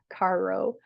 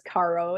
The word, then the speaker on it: carro: word car in Spanish, carro. I would say it is caro. It's not pronounced caro. It's like caro with a rolling R.